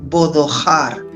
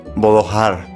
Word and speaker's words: bodojar: Pero lo has de pronunciar, Rubén, con H, bodojar. Bodojar, vale, la H aspirada, Bodojar.